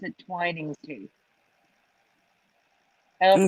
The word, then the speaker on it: Twinings: I will say I agree with you on the 2 N's, but I pronounce it Twinings too. I don't pronounce okay. it Twinnings.